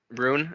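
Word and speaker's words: Rhûn: the easterlings come from is it Rune or run it's Rune Rune okay so um from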